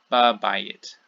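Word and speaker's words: בַּבַּיִת: ba, on, the preposition, the consonantal element of the preposition moves in to take the place of the hey, because hey is a weak sound. And so we get ba bayit, ba bayit.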